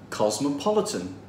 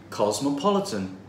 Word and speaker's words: cosmopolitan: cultures let's pronounce this it has four syllables and the third one is stressed cosmopolitan cosmopolitan 5 Vienna has lots